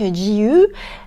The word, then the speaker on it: GU: En vrai, c'est comme c'est un G et un U, ça se prononce à l'anglaise et du coup en japonais tu allonges tout, c'est GU.